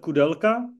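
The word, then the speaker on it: Koudelka: I think all of you know the Josef Kudelka. I'm trying to pronounce it how English-speaking people are pronouncing it, but probably the most famous Czech photographer.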